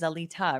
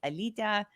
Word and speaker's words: Alita: this um that's the the americanized pronunciation of my name um in lithuanian it's alita it's it's a diminutive of another another similar name so it's uh it's like a nickname but for for non-lithuanians they often have a hard time pronouncing it that way so alita is like